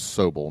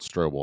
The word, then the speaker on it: Sobel: These lieutenants, and I had said it wrong, it's Sobel, not Strobel.